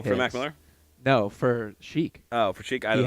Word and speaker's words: Chic: An artist you guys definitely want to check out is Chic, pronounced chic.